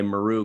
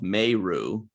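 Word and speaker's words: Meru: Maru, by the way, Maru called herself Mayru. Always drives me nuts when people pronounce names differently. Everybody called her Kira Maru, and she's like, I'm Mayru. I'm like, which one is it?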